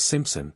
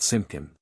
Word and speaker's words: Simpson: persists you may say my name is Simpson not simin at a private dance